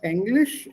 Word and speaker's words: Englisch: And don't pronounce it as English. Pronounce it as English. A, B, C, D, A. Remember alphabets? Yeah. A, B, C, D, English. English. Don't pronounce it as English. English would be English. English will be German.